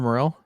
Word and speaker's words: Morel: Christopher Morell it is I'm like more that's B I remember that from the kids that was more I got it yeah Chris stop her more and then L from stranger things okay we got the